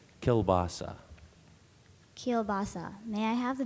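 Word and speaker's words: kielbasa: rip right through them keilbasa Al also kelasa kelasa or keilbasa primary def pronunciation is kelasa keilbasa may I have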